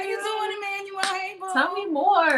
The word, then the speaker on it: Emanuel: Thank you for saying my name correctly. Ms.Emanuel, they messed that up? People be messing that up. What do they say? They be like Miss. They be like Manuel. I don't know.